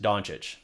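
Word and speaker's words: Dončić: From what I understand, I say it correct, Doncic.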